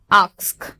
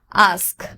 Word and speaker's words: ask: আগে এস এর উচ্চারণ আসবে, তারপর কে এর উচ্চারণ আসবে, আগে কে তারপর এস হবে না। অনেকে এটা প্রনাউন্সিয়েশন এভাবে করে, আস্ক। ইনফ্যাক্ট এই ভুলটা আমারও হতো, বাট the pronunciation, the correct pronunciation is আস্ক।